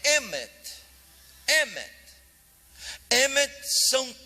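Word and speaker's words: אמת: A palavra verdade em língua hebraica é emet. Emet. Emet são 3 palavras. Emet se escreve com Aleph, Men e Tav.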